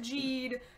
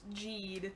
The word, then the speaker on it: Geed: It's pronounced Geed. The spelling is all over the place, but it's pronounced Geed.